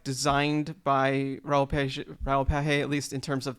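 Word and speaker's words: Raoul Pagès: made in collaboration, and I was pronouncing his name wrong, but Raoul Page, I believe. I think that's right.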